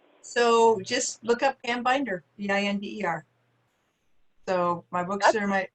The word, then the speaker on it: Binder: I saw your name and I was like, wait, like a binder? Oh. Like a 3-ring binder. I know, and yeah, some people mispronounce it, but it's binder, Binder. So easy.